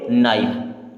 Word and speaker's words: knife: KNIFE, के बाद में एन आ गया यानी के साइलेंट। अब NIFE को क्या पढ़ेंगे? नाइफ। क्या पढ़ेंगे? नाइफ।